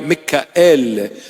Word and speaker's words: Michael: May the prayers and intercession of this humble saint, Michael or Michael, Mikael. The proper pronunciation of Michael is Mikael.